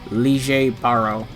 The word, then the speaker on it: Lille Barro: be showcasing stern redder x the x axis lee jay baro and yes that is literally how you pronounce his name i looked it up on